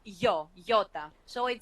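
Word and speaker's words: ιώτα: what's the next letter this is Yota Yota but it's an e sound in modern Greek this one yeah you know interesting things that uh many pastors I hear they pronounce iota yeah because um it's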